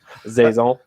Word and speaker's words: Saison: to take a chance on what a Sison is, or they sure don't know how to pronounce it, because I know we're Saison.